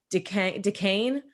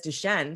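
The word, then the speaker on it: Duchesne: The difference in pronunciation of, you say Duquesne, I think, for a Rose Philippine. And I grew up knowing it as Duquesne.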